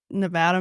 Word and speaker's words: Nevada: to look look NAA it's like it's spelled Nevada it's Nevada Missouri it's like 8,000 people